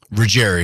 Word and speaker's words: Ruggeri: So, Kyle, your last name is Rogerry. Rogerry. I didn't want to mispronounce it.